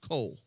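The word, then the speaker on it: כל: is the word coal kol is how we would spell it in english but it's pronounced coal this word is used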